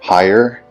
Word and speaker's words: Haier: So we're going to look at my Haier, I think that's how you say it, H-A-I-E-R, refrigerator.